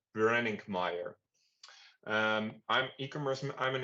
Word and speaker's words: Brenninkmeijer: Dutch but for you guys probably difficult to pronounce last name uh it's called branding Meer um I'm e-commerce I'm an e-commerce manager um at Heinen for an online store blade.